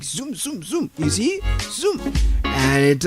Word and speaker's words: Xoom: Receiving money from abroad can be cheap and fast with Zoom. Zoom is spelled with X, X-O-O-M.